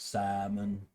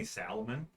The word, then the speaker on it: salmon: my girlfriend calls it salmon Le she didn't pronounce the L so she's decent who pronounces the L and salmon that's stupid does anyone have any Salamon I have salmonella if